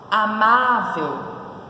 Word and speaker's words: amável: então corrigindo aí gente coloca certinho amável como que se separa a Marvel ela tem três sílabas tão entre sílaba Qual é a posição da sílaba tônica amável penúltima Então ela é paroxítona hábito separando hábito são